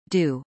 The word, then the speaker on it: Jet d'Eau: The jet d'eau, French pronunciation, d'eau, water jet, is a large fountain in Geneva,